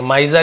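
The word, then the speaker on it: miser: बड़ा माइजर है ना इसे स नहीं पढ़ेंगे ज पढ़ेंगे माइजर यानी होता है कंजूस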